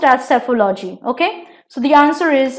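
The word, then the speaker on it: psephology: in boating alright and it's spelled with a P but P is silent so it is pronounced as cephalo G okay so the answer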